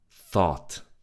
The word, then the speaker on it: thought: Thought. Thought. So the T from the beginning is silent.